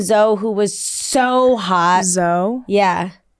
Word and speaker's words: Zoe: Zoe? Yeah. How is it spelled? It's spelled Z-O-E, but it's pronounced Zoe.